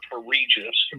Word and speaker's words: Rege: I'm I want to pronounce it right. It's Regeis.